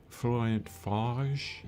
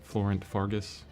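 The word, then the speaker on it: Florent Fargues: Florent Fage, I think is how you say his name. Florent Fage. It's spelled like Fargus, Florent Fargus on YouTube.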